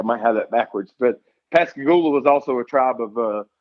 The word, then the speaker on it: Pascagoula: How do you pronounce that? The town I was born in is Pascagoula, Mississippi.